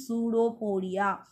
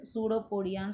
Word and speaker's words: pseudopodia: இதோட pronunciation pseudopodia. P வந்து silence, pseudopodia சொல்றோம்.